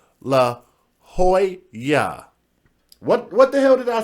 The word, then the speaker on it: La Jolla: Jay, it's pronounced La Jolla.